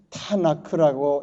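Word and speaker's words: תנ״ך: 그래서 그 앞에 있는 토라의 타우와 그 다음에 이 네비임이라는 니자하고 또 뒤에 카프를 세 개를 합치면 타나크라고 이렇게 발음이 됩니다.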